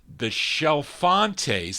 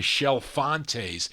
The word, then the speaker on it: Chalfontes: They were called the Shelfantes. They actually phonetically spell it on the label, SHELL-FON-TAYS, but it's spelled CHALFONTES, the Shelfantes.